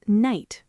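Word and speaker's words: knight: That explains words like night. Right. The K is there but we don't say it.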